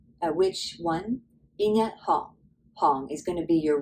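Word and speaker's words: 行: And our last pronunciation for this character is our hong, right? Hong.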